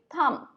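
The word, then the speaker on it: thumb: बी जो है वो साइलेंट होता है, सो इसको हम क्या बोलेंगे, थंब.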